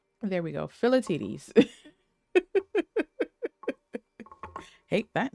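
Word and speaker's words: Philoctetes: Let's see if Google will pronounce it. You might hear an echo of my stream. Philatides. There we go. Philatides.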